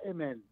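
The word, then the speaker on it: aman: Se escribe amén, A-M-A-N, amén, pero se pronuncia emen.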